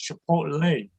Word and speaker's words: Chipotle: But my son always corrects me and said, Dad, it's Chipotle. I said, great, this kid got a 40 on the Spanish regions. He's corrected me now. So whether it's Chipotle or Chipotle, all I know is I really